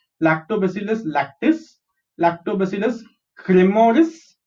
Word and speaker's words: cremoris: Second step, some colors and microbes like Lactobacillus lactis, Lactobacillus cremoris. How do you pronounce this? C-R-E-S, cre, M-O-S, mo, R-I-S, ris, cremoris.